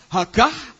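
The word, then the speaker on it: הגה: Tulisannya hagah. Ha a g a ha. Hagah bacanya hagah.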